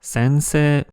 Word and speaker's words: sensei: Le mot pour professeur est francisé en sensei, mais la prononciation japonaise est bien sensei.